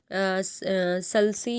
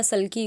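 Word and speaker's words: sulci: पहला कहला जाएगा सल्सी या सल्की, कुछ भी लोग प्रोनाउंस कर लेते हैं।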